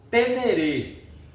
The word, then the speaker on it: Ténéré: Amigo, tem uma Tenerê 600, ano 1990, desde 0 km. Goste de seus vídeos e, por favor, vamos eh falar certinho o nome da nossa moto. Fala-se Tenerê.